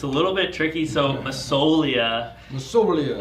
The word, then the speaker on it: Massoglia: But yeah, the G silent, so it's Massoglia, but the G silent. So again, it's Massoglia.